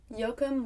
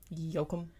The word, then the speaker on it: Yoakum: Yoakum was and is considered a very rural and smaller town.